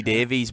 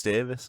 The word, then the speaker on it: Davies: Well, I'm Welsh, and we just break those rules. For some reason in Wales, Davis is spelt with an E, and everywhere else in the world they call me Davies, but in Wales it's Davis.